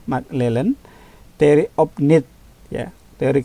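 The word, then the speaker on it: McClelland: Ini bacanya McClellan, theory of need ya, teori kebutuhannya McClellan ya.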